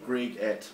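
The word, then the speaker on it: Greig: can always email me Greg bureaucracy. co.nz which sounds like a mouthful but Google it you'll find it um the only trap is that my name is spelled g re e i g just I yeah I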